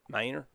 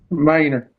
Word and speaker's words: Manor: Minor? I said it wrong. I don't have that Yeah, accent. Minor? Manor.